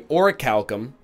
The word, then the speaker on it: orichalcum: that I ask is that you give me orichalcum I still feel silly saying it by the